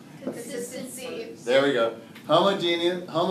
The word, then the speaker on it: homogeneous: Homogeneous, not genius, there's not an E in there. Homogeneous really is probably the better way to pronounce it.